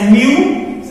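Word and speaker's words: μ: कहने का मतलब हुआ यदि साइज ऑफ सेल्स हम लोग बात करें तो ये वेरी करता है 0.1 micron, micron म्यू, इट is pronounced as म्यू।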